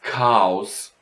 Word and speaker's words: Chaos: And das Chaos, the chaos, of course. So, well, these words have a K for pronouncing them.